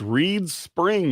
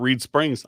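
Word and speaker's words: Reeds Spring: Um, yeah, it's Reed Spring, not Reed Springs. I know Deborah, that's that's probably the most common one here to to um to Greg's Maripa. Reed Spring would be ours.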